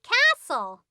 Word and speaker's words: castle: you say this castle nope the t is silent shh we say castle can it no no